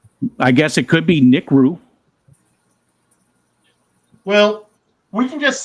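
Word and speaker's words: NICREW: aquarium equipment ni I r e w it's n crew that's how I've always pronounced it as well yeah I would say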